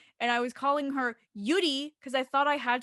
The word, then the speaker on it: Yuri: someone named yuri right y-u-r-i yuri right that's how you would say it like americanized i guess yuri but because they're korean they pronounce it yuri so oh okay first